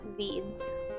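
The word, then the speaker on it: Vydz: like randomly for example there's a character named veeds which is spelled v-y-d-z just like random letters that i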